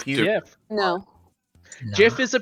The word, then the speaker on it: GIF: Caliban says Jiff, so we just give him shit for saying Jiff. No, he's correct. No, he's not. Yeah. Yeah, but no. It's No. Jiff. No, it's Jeff. It's He- Jiff.